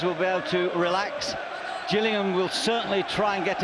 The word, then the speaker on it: Gillingham: from Gillingham Dorsett he's in the place with the soft G today Gillingham Kent and a special day